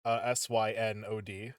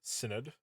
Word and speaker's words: Synod: The Synod, SYNOD, Synod, also occasionally incorrectly pronounced Synod.